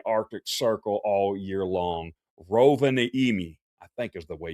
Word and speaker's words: Rovaniemi: It's pronounced Rovaniemi.